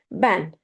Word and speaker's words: ben: Ben, I. Ben. Again, it sounds as A.